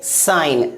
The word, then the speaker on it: sign: सबसे पहला SIGN, इसे क्या पढ़ेंगे साइन ना कि सिग्न, क्या पढ़ेंगे साइन।